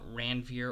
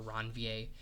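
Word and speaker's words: Ranvier: those nodes of R you can either call it Ranier or ronier however you want to pronounce it there gaps in the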